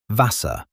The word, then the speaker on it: Wasser: Wasser, which in English means water. The W sounds like an English V, and the German V